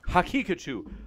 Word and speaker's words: Hakikachu: By the way, Daniel Hakikachu's name is pronounced Hakikachu, like Pikachu with ha in the front.